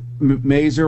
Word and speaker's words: Mazur: Do you pronounce it Mazur, Robert?